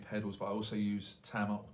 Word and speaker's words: Tama: I call them Tama. People call them Tama. That's because it's pronounced Tama. Yeah, I still want Tama. It's an accent. We'll put it down on a London accent thing.